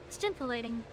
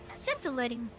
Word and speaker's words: scintillating: Stimulating. Is that how it's said? Stimulating? Scintillating.